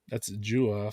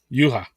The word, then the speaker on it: Juha: that guy, well that's Jua from if I'm Ah, saying it right, from Namanan. hey, Juha. Hells Yuha.